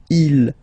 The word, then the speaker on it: ils: So you can notice that even if you've got this S at the end, and then here you don't have anything, well, you pronounce them the same way, okay? Il, singular form, il, plural form, okay?